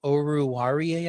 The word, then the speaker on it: Oruwariye: Detroit's best cornerback right now is or Amani Oruwariye, I believe is how you pronounce the name.